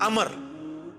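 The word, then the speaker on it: عمرو: लफ्ज ही गलत है लफ उमरू तो कोई लफ ही नहीं है लफ्ज है अमर लिखा होता है उमरू लेकिन उसका मतलब वाओ जो है वो साइलेंट होता है और वाव का मतलब यह है कि आपने इसे पेश की बजाय जबर से पढ़ना है उमर की बजाय पढ़ना है अमर तो हजरत अमर बिन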